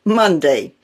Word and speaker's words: Monday: In Monday, the O is pronounced uh and the A is pronounced A, Monday.